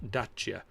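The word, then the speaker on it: Dacia: i3 i3s and just small niptic dasia is pronounced dachya that's true that's yeah yes i know over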